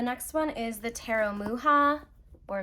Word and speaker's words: Mucha: Okay, so the next one is the Tarot Muha, or Mucha, or Musha. I've heard it pronounced Muha. I think that's correct.